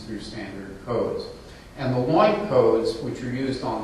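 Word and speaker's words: LOINC: And the line codes, which are used on the lab tests, and why rhymes with oink, just like a pig, creates a bucket, a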